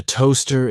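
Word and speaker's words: Towcester: town in North hamptonshire a toaster is a cooking Implement for toasting bread the two words are written WR very differently but pronounced the same while you cannot learn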